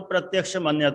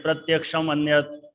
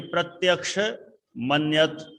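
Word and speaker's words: प्रत्यक्षमन्यत्: प्रत्यक्ष मन्यत, देखो सही उच्चारण तो प्रत्यक्ष मन्यत है। अब कई लोग अलग अलग रूप में बोलते हैं, प्रत्यक्षम अन्यत है, लेकिन प्रत्यक्ष मन्यत।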